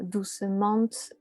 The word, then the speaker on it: doucement: personnes qui vont avoir envie de prononcer le -t à la fin qui est muet et donc doucement, fortement, etc.